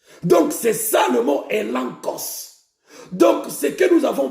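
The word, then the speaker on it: elegchos: Elankos. Elankos s'écrit E-L-E-G-C-H-O-S. Elankos.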